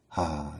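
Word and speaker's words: ה: It's not pronounced hey, it's ha.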